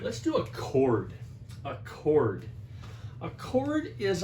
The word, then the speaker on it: chord: a chord and it's pronounced chord like in music i know it's a ch but okay all right